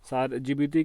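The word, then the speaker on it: Djibouti: जिबूती की देखिए यहाँ पे भले ही इसको लिखा जाता है डी से, लेकिन प्रोनाउंस कैसे किया जाता है? जे से, यानी कि जिबूती।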